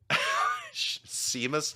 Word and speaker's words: Seamus: Seamus.